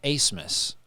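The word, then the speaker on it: Abmas: is a b m a s but it's pronounced acemus okay very interesting yeah leading scorer in the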